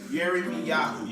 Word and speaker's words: Yirmeyahu: What's the Hebrew name of it? Huh? Jeremiah. Yeremiyahu. Jeremiah. Yeremiyahu. You spell that YIRMEYAHU.